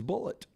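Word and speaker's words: Bulleit: gets the dog I can say this is bullet but you can't use that name now the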